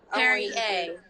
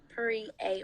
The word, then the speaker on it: Pere A: going on about it how do you think it's pronounced hairy a oh yeah yeah but it's actually like three three three a gorgeous i love it